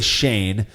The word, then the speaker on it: Cheyne: This one comes from, I believe you say Shane. It's spelled Cheyne. Remember how Is to it pronounce Cheyenne? it, he says? Yeah, I'm almost certain it's Shane from Gilbert, Arizona. We've had beers from. Oh, I from like Shane. before, yeah.